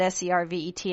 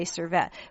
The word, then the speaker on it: Servet: So I spell it S-E-R-V-E-T and I say servette. But when my mother says it, it sounds more like servet. And there's this rolling of the R.